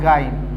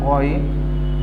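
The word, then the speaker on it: غين: Then Ghain, Ghain, not Gain. My dear student, you have to pronounce this one Ghain, then Fa and Nun.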